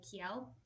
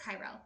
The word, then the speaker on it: Kyrell: And the two main characters are named Eric and Kiel. Let me know if I'm pronouncing that right. Um, and Kyro, Kyle, Kyle, yes, Kyrell.